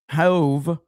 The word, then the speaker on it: Hove: How is uh ho hove is pronounced hove like grove and cove or rove but with an h sound.